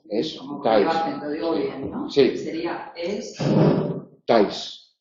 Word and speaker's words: estáis: digo bien no sería es tais ta pero se pronuncia en un solo golpe de voz el por eso es